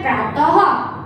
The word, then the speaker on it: प्रातः: तो प्रा प्लस तह, प्रा प्लस तह मतलब के प्रातः, राइट।